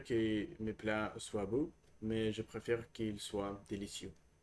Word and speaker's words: mais: Mais, it's not ma, but mais.